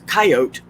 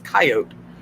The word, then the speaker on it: coyote: oh the coyotes there's coyote yeah who was it someone told me that i was saying it wrong it's coyote coyote um the snakes the